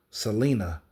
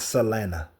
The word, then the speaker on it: Selena: and by the way Selena herself said her name is pronounced Selena not Salena I remember she said that